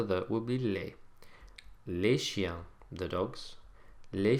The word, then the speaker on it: chiens: Now notice that the S that we've put on the end of each of these words to make them plural, as we've already seen, is silent. Les chiens, les filles, les hommes.